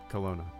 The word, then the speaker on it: Kelowna: Pronunciation. Kelowna. Is that right? Skip ad. There we go. Kelowna. Canada. Kelowna.